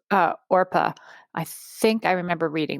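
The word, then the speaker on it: Orpah: It's Orpa. Yeah. So apparently, was that answer number 2 or 3? I just put 2. That was 2. Yeah. So apparently, people would pronounce it wrong so much that she went with Oprah, and then Harpo is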